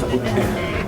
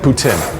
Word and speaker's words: poutine: French this is impressive French Canadian prononciation is boutin boutin yes okay what is